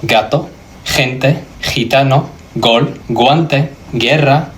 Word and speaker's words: guerra: For example, the word guerra. Notice that I'm not saying guerra. The U is actually silent here. All it's doing is protecting the hard G from the E because the G followed by an E becomes a soft G.